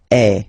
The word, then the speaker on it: es: And for tu, then you've got this combination of letters, okay, but then basically the sound you will pronounce or you will produce is est, okay.